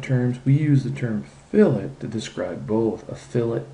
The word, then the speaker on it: fillet: we can add a fillet notice I pronounce it a fillet not a filt a filet is what